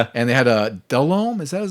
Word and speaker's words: Delhomme: And they had a Delhomme, is that his name? That the quarterback might have been at that time. Delom. Yeah. Because I had asked you how to pronounce that was the other thing.